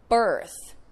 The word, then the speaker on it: birth: Birth is the same So, even though worth and birth have completely different vowels, O and I, they have the same vowel sound.